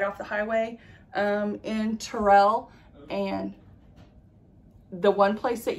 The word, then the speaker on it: Terrell: so we stayed in terrell we called it terrell because it's spelled like terrell but if you say tyrell they're gonna know that you're not a local so you want to say terrell um we stayed in